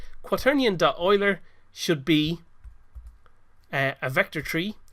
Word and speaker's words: Euler: oiler does it looks like it might be pronounced Euler but it's actually pronounced Euler and what this does it converts a normal